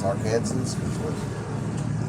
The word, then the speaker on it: Arkansans: Do you want us to call ourselves Arkansans?